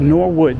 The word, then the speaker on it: Norwood: As we are walking around Norwood, Norwood, Norwood, that's how you say it.